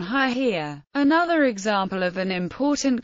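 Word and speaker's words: היא: in Biblical Hebrew and a knowledgeable reader of the biblical text would know to read the feminine pronoun haia another example of an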